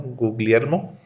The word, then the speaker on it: Guglielmo: basó para leer y guillermo porque no puedo pronunciar en italiano guglielmo marconi en este caso él fue el inventor